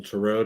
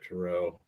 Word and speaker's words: tarot: uh the golden circle turo deck tarot deck i'm sorry i always mispronounced that tarot people people laugh at